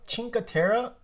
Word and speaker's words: Cinque Terre: been getting uploaded here it's it's chinka chinkatera that's how you say it chinka chinkatera yes chinkatera